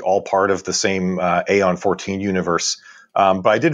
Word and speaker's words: Aeon: I should note, by the way, all right, with Aeon 14, technically the English pronunciation of that word would be Eon, but I'm going with the Latin pronunciation, so that's why I'm calling it Aeon, just in case anybody wonders why I say that.